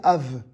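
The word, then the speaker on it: אב: hébreu ça se dit av c'est la même lettre sans le point on va voir dans un instant que le bê sans point ça se prononce vê un père se dit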